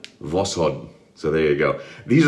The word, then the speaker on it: Voskhod: enough for YouTube shaving Voskhod not voshkod Voskhod so there you go